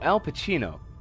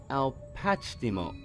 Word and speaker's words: Alpacimo: Oh, Al Pacino.